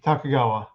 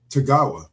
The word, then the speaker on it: Tagawa: Uh well I say uh but actor Carrie he he wrote Yuki Hiroyuki Takagawa. Yes. In so many so many roles. Big Tagawa. Did they spell it wrong?